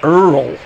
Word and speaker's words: Oil Can: beer can in fact you pronounce oil earl thrill can boyd uh